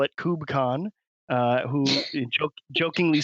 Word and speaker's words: KubeCon: So Kubernetes is the somewhat obvious pronunciation of the full spelling, but when you abbreviate it to just KUBE, then the English word cube immediately comes to mind, and it's much more approachable to call it cube than kube.